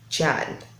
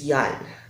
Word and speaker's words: Jann: my comment section that it's not Chad it's Yan so I also thankful